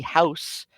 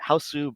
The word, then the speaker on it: House: This song is from the movie House, or many people pronounce it Hausu, but the the pronunciation is house because the last vowel is actually swallowed in the Japanese dialect.